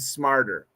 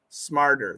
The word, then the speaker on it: smarter: predator and smarter yeah we can have flap Tes predator and smarter predator predator predator smarter those are with flap T's it's tough so Alex